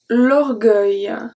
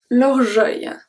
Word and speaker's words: orgueil: L'orgueil.